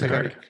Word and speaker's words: Agaric: Yes, Agaric.